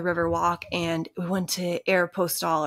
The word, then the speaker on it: Aeropostale: and we went to air postal or Aeropostale or however you say it and you've never heard anybody say Aeropostale I think that's the correct way to say it but we all said Aeropostale Aeropostale yeah and